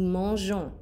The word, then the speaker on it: mangeons: If we just spell the new form like this, it sounds like nous mangeons, like we mango. That's not a thing, okay? So we add this E to preserve the soft sound.